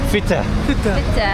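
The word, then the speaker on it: Fettah: Feta. Feta. Ça s'écrit comment?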